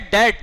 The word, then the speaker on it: debt: अच्छा, BAD बैड, बैड डेट, डेट क्या है? डेट क्या है? डेट, DEBT, इंग्लिश का वर्ड है DEBT, डेट। इसको पढ़ते हैं डेट, लेकिन बी साइलेंट है इसमें, डेट, बैड डेट एक्सपेंस।